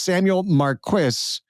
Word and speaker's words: Samuel Marquis: And here's the thing, his name is Samuel Marquis because I finally learned how to pronounce it.